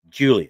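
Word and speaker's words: Giulia: lady right here, the one on the left, Julia. Mhm. It's spelled G U I L I A.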